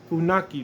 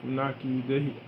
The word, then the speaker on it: Funaki: Oh yeah, they don't pronounce it with the fun and aka. They pronounce it Funaki, as in N-A and K-I.